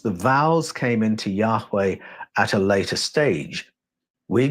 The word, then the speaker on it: Yahweh: were they pronounced now when you put the vowels into the name the H's almost disappear it becomes Yahweh but I'm going to